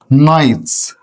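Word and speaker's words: knight: كلها طبعا كانت بتجهز نايتس نايتس قلنا كلمه نايت نايت يعني فارس نايت فارس نايت فارس نايت فارس طبعا هنا الكي ايه طبعا الكي هنا سايلنت كانت بتجهز الايه الفرسان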